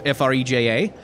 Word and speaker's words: Freja: That was the Duke's dear Freja. Or Freja. If you were to pronounce that in Danish, F-R-E-J-A, it would be Freja.